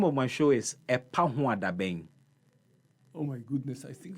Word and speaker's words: Epahoadaben: The name of my show is Epahuadabeng. Oh my goodness, I think we'll break it in syllables.